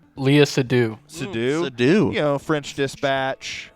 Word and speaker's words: Seydoux: Leah Sudol. Leah Seydoux.